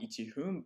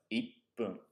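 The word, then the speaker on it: 一分: Number 1, you'll notice, is not ichihun, but ippun. Ippun.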